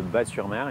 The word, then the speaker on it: Batz-sur-Mer: de la commune de Batz-sur-Mer effectivement on prononce pas le zen et soit on dit baba cool soit on dit le cœur qui bat avec également un slogan